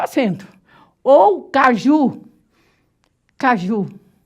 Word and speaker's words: caju: Caju. Ó, tá vendo? A forte é o ju.